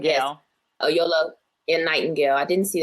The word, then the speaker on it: Oyelowo: I don't know how do you pronounce his name. Oyelowo. Yes. Oyelowo and Nightingale.